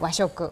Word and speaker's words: Washoku: Und Sie haben in unserem Vorgespräch schon gesagt, Washoku, habe ich das richtig ausgesprochen? Genau, Washoku.